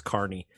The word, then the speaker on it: Kearney: Carney, sorry, it's spelled Kearney, but you said it's Carney. It's and it's unfortunate. Listen, I apologize. I apologize profusely. It's Carney.